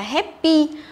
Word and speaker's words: happy: Chúng ta nhớ cái từ happy này ấy, thì không được đọc là happy, hiểu chưa? Không được đọc là happy, tức là không được đọc là âm e, hiểu chưa? Từ này đọc sai rất là nhiều này. Thế thì chúng ta chú ý cho cô là phải đọc là happy, happy, tức là âm e bẹt chứ không phải là âm e.